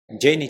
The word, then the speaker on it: Jane: parênteses aqui talvez você esteja se perguntando porque eu tô dizendo CF e não tô dizendo sete né porque na verdade como ela era uma americana tudo isso aconteceu lá e então eu tô pronunciando da forma que seria em inglês né o nome correto Então seria CF da mesma forma que eu não estou dizendo jan eu estou dizendo Jane Mas